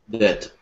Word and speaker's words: debt: The B is silent in this word. Debt. So we just say debt. Debt. That's what it sounds like. It's not how it's spelled, but that's how it sounds.